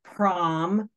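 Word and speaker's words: Praamžius: So she emailed her cousin in Lithuania, and it's pronounced like Promsus or Zeus.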